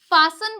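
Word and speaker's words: fasten: एक और रूल देखिए अगर टी से पहले ऐसा है तो टी साइलेंट रहेगा ठीक है जैसे कि एफ ए एस टी ई एन तो इससे क्या बोलते हैं फसन बोलते हैं फास्टनर इसे फास्टनर टी जो है वो साइलेंट है क्योंकि उससे पहले क्या आ रहा है एस आ रहा है तो इसे क्या बोलेंगे हम फसन बोलेंगे जैसे कि लिसन बोलेंगे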